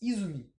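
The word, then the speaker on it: 泉: je vois que bon en lecture purement japonaise prononce Izumi en lecture sino-japonaise scène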